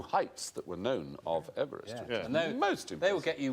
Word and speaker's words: Everest: it Mount Everest because he didn't pronounce his name overest he pronounced it Everest eest Everest should be M